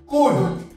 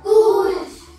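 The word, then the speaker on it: could: হও ঠিক আছে সি ও ইউ এল ডি কুড কুড সি ও ইউ এল ডি কি হয় কুল সি ও ইউ এল ডি কি হয় কুল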